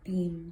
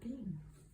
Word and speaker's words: Boehm: This company, Boehm, I think you pronounce it Beam though, I think, is still in business in New Jersey.